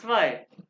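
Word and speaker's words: zwei: फिर इकट्ठा आ गया तो ये जैसे हमने सेट पड़ा एस के बाद स्वाई स्वाई आई स्वाय और यहां पे ई आई हटा गया ये तो है सेकंड होल्ड कीजिएगा भाई तो ये है स्वाय और यहां पे आई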